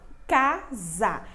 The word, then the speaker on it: casa: ser com a ksk casa aqui é a palavra casa tá vendo que esse é se eu pronunciei usar mas ela escreve com s tá bom casa tá